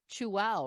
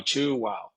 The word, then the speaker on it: Chuao: chef michael uh with chu wow right that's how you pronounce perfectly pronounced yes you chew and say wow chew wow and it's spelled c-h-u-a-o